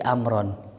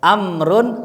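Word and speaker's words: عمرو: ngambil waunya Daud siapa si amron si Amr ya amrun tulisan Ain mim ro wau gitu nah ini wau siapa nih kan amrun enggak perlu wau ternyata wauya Siapa tuh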